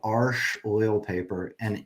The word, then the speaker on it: Arches: So this is done on a French paper called Arche oil paper, and if you saw it and pronounced it like in English, you would say arches, Mhm.